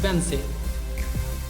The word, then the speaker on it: Wednesday: इसको Wednesday पढ़ते हैं आप? एक्चुअली एक गलत प्रोनाउंसिएशन है, सही प्रोनाउंसिएशन है Wednesday. Why on earth is Wednesday spelled like that?